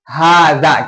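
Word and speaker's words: هذا: इसका प्रोनाउंसिएशन क्या होगा? सबसे पहले बोलो हाजा, क्या बोलेंगे?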